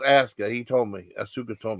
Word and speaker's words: Asuka: And it is pronounced Asuka.